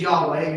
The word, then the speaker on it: Yahweh: you have me lost you say his name is Yahweh you just remember I took a deep breath that I said his